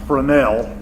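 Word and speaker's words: Fresnel: I know it looks like Fresno but it's pronounced Brunell to French word these names well they're the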